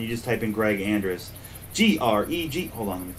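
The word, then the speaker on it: Andruss: If you just go to GoFundMe and then type in Greg Andrus, it sounds just how it's spelled.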